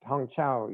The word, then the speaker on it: Hangzhou: Now, I have been to the high-speed station at the Shanghai, and I know I'm not pronouncing this right, Hangzhou Airport. The airport, Hangzhou, yes. Hangzhou, okay.